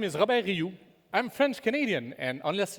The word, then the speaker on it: Robert Rioux: well for me so actually my name is Robert you I'm French Canadian and unless you speak French you are most likely going to pronounce my name Robert ryox which sounds more like toxic waste material hence